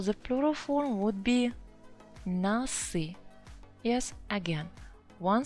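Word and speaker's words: носы: It's still consonant, so the plural form would be nasi. Yes, again, one syllable.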